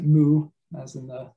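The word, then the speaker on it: 無: uh nothingness or absence in japanese pronounce it mu as in the like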